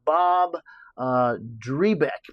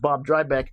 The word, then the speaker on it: Drybeck: This is uh something by a gentleman named Bob uh Drebeck, but he it's pronounced Bob Drybeck famously and he came up